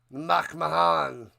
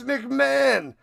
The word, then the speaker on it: McMahon: Mach Mahan, you love that, Mool. Mach Mahan. It's McMahon.